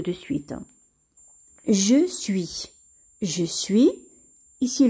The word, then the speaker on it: suis: suite je suis je suis ici le s ne se prononcent pas tu es es ans